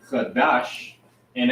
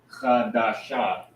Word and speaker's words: Qadash: two together, making it you wouldn't pronounce it Qadasha, you would pronounce it Qadash, and drop that ah sound, because sha phonetically is sha with that vowel sound, but when you pronounce it together, you'll drop that ah at the end.